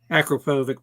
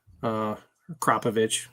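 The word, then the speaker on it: Akrapovič: And then I'm kind of going back to where, my 690 KTM had the Akropovic pipe on it, Kropovich, however you want to pronounce it.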